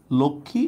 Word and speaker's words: লক্ষ্মী: যুক্ত বর্ণের সাথে হচ্ছে আছে কোন উচ্চারণ। তবে ব্যতিক্রম একটা আছে। ব্যতিক্রমটা হচ্ছে লক্ষী। ব্যতিক্রমটা হচ্ছে লক্ষ্মী।